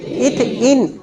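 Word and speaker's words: एथीन: इथीन, एन नहीं बोलना। इथेन बोल दीजिएगा तो सिंगल बॉन्ड हो जाएगा। इन, इसके प्रोनाउंसिएशन में इन लाना, उसको प्रोनाउंसिएट करना एन से, ठीक है।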